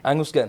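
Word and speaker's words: Angus Gunn: 67 saat berbenturan dengan enges Gun benar ya bacanya enges Gun ya Angus Gun Angus Gun ini benturan kepala ya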